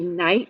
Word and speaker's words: knight: way as night time this night with the silent k at the beginning means a knight in shining armor that's